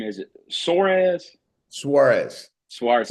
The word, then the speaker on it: Soares: So it almost is spelled like it almost is pronounced like it's spelled Suarez, but it's spelled Soares.